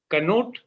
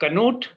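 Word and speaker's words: Knut: that is Professor uh canut don't be shy of pronouncing the K because that is how it is pronounced um in Norway but that's where he comes from originally so canut that is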